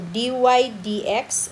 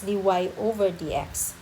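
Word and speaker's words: dy/dx: of x minus five so d y d x okay it's not pronounced as d y over d x so in the solution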